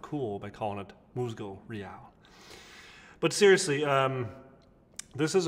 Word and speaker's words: Musgo Real: using the moosego real i i called it musgo for the longest time like a total idiot and i've seen the official pronunciation and so now i will sound cool by calling it muscle real but seriously um this is a new line